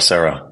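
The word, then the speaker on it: Serow: You helped open Little Sero, is it pronounced? Yeah, Little Sarah.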